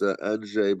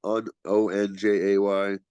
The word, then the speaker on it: Andrzej: It's a Polish name, so it's pronounced Andrzej, but most people just call me Andrzej. So like Onjay would be the kind of okay way to say it. Or Andre is okay also.